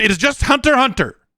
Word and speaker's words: Hunter x Hunter: In Hunter x Hunter, it is just Hunter x Hunter. The X is silent.